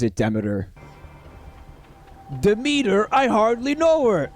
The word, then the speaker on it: Demeter: That's from the goddess Demeter, who I learned is actually pronounced Demeter, but I will be stubbornly continuing to call her Demeter.